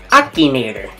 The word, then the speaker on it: Akinator: we're going I don't even know how to pronounce this what what is it it is Akinator Akinator the line Genie it's supposed to like